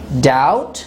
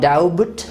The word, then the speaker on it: doubt: have uh the word doubt it is not doubt in here uh b is silent before t b is always silent